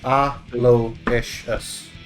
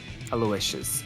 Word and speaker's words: Aloysius: pronounce aloysius either but it's a low-ish aloysius yes that was perfect aloysius all right it's not